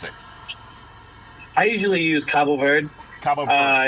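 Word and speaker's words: Cabo Verde: it I usually use Cabo verd uh it's it's the Portuguese way of saying it some people say cop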